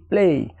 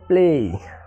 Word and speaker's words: play: যেমন এখানে প্লে হবে না, হবে কি প্লে, অর্থাৎ PLAY, অর্থাৎ এর পরে ওয়াই থাকার কারণে এখানে এর উচ্চারণ এর মতো হয়েছে, অর্থাৎ প্লে।